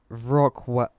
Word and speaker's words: Wrocław: That's a V. Wrocław.